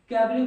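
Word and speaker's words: cabaret: important हो जाएग कैबरे तो जो टी है वो क्या आपका साइलेंट है इसकी वजह से हम उसे क्या बोलते हैं कैबरे बोलते है कैबरे कैबरे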